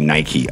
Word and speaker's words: Nike: By the way, the correct pronunciation of this one would be Nike, obviously.